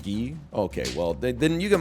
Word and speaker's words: Guy: I would have gone for them okay it's pronounced ghee okay well then you get minus to me